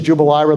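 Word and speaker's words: Jubelirer: When they decided Veith, Kennedy did not, the Veith versus Jubilira, the one nobody can say, that's how you say it.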